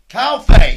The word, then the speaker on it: Calfe: Calfe.